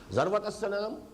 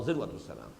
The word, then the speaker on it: ذروة السنام: السنام، سنام کوہان ہے، اور ذروہ یہ دونوں اس کی تلفظ ہے، زال کے زبر کے ساتھ بھی اور زال کے زیر کے ساتھ بھی، ذروۃ السنام اور ذروۃ السنام۔ تو میں تمہیں بتاؤں